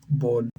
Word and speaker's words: Bodleian: How to pronounce Bodleian.